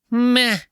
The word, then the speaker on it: meh: Both words, by the way, have an H in them that is silent. The H is no doubt bored in those words.